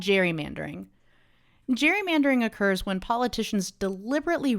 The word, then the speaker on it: gerrymandering: It's actually Gerrymandering, but everyone says Gerrymandering. If you want to be the one person that says Gerrymandering, you go for it. Yeah, conferences and classes, when I'm with colleagues, I'm often the only person who resorts to Gerrymander, but I'm fighting the good fight. I think it's the right pronunciation and it does justice